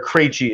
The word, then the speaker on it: Krejci: of John and I's, or Krejci is how you say Stan's last name, happens to be one of our fraternity brothers.